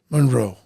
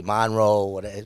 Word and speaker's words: Munro: And his name is Scott Munro. Am I pronouncing it right? Yes, you are. Because sometimes they like to pronounce it a different way, Scotty. Yeah, sometimes they put an E, Monroe, but it's Munro?